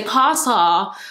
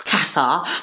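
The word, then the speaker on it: Casa: it's so funny cuz the Americans say Kasa Kasa I'm like it's Kasa anyways um um of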